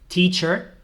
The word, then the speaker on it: teacher: coming Jobs We have teacher teacher no teacher vale que lo escucho muchísimo en clase Esto no es teacher es teacher la ea se pronuncia como una y un poco más larga teacher doctor no es